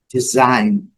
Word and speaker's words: design: Design, design. Essa é bem conhecida, só caprichar no pronúncio do N.